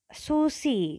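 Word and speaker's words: süß: Nah, S ini itu merupakan S yang paling kuat, yaitu double S atau SS. Jadi kalau misalnya S aja berarti kan misalnya Susi gitu ya.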